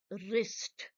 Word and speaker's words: wrist: That is on the wrist. Wrist. So the W is not being spoken.